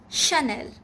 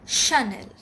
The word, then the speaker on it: Chanel: vuitton it's louis vuitton number two is chanel chanel it's not channel or chanel it's chanel number three is katie